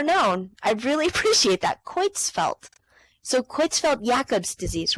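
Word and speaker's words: Creutzfeldt: Okay, it is pronounced how it's pronounced. Thank you so much. I would have never known. I really appreciate that. Quitzfelt.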